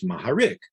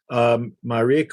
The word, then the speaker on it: Maharik: And in Russia, there is no H. There's only a G. Like, for example, a person's name is Gurevich is really Horowitz, but they don't say G. They don't say H. So a person named Mogarik is Maharik, except that in Russia, that's how you pronounce it in Russian.